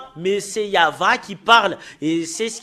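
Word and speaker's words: יהוה: que nous voyons que c'est faux le terme y avit parce que c'est pas dans la prononciation et euh normalement ça doit être Yav et c'est VH la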